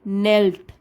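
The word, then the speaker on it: knelt: and unfortunately gate he नेल्ड नेल्ड के silent है इसमें नेल्ड एट हिज साइड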